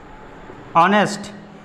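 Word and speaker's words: honest: जैसे इसको मैं बोलूं ऑनेस्ट, यहाँ पे एच साइलेंट होकर हमारा निकलता है क्या?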